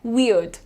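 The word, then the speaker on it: weird: वियर्ड वियर्ड अड अड पे रुको ठीक है आर पे ध्यान मत दो आप क्या बोलना है वियर्ड वियर्ड प्रॉपर वी और अड वी और अड ये तुम्हारा इंडियन एक्सेंट में भी यही प्रोनाउंसिएशन है वियर्ड ठीक है वियर्ड नेक्स्ट देखिए ये डेवलप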